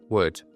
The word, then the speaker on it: would: saler la pronunciación Okay esa l no hay que pronunciarla Word okay Para ello para